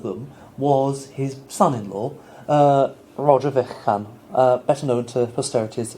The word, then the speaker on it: Vaughan: Roger Vychan, later dubbed Vaughan, it would have been Vychan in the 15th century, but it's come to be pronounced Vaughan since.